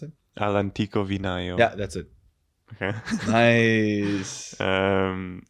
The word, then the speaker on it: All'Antico Vinaio: I don't know if they have one in Milan, but how do you pronounce it? All'Antico Vinaio.